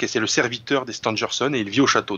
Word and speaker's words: Stangerson: William Stangerson, qui est un éminent scientifique d'origine américaine, c'est pourquoi je prononce son nom à l'anglo-saxonne.